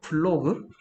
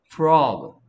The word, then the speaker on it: frog: 플로그? 플로그야? 알을 알답게 소리를 못 내군데요. 알이 어 소리 나면 프로그. 플로그가 아니고 L 소리 내고 있는 이유는 너 이거 발음하고 있는 거야. 플로그가 아니고 프로그. 프로그.